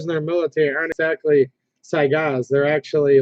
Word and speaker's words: Saiga: So I don't think they actually say Saiga on them, which is the right way to pronounce it, by the way. I always get caught saying Sega, but it's actually Saiga.